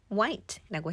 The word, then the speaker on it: white: 때 많이 쓰입니다 단어에서도 화이트라고 많이 하시는데 대신 white라고 해보시고 일 일 고래라는 뜻입니다 그리고 많이 틀리는게